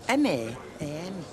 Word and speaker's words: ma'am: Yeah, it's spelled M-A-A-M. But you say it ma'am.